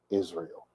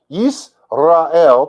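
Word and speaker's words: ישראל: What is Israel? Yisrael, to pronounce it properly, is the land of promise.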